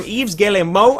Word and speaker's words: Yves Guillemot: And so this first quote is from Yves Guillemot, I believe is the correct pronunciation, and the entire quote will be right over here.